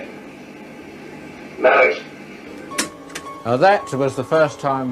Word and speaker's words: Maurice: Come on, my name's Morris. Let me hear you say it. Maurice.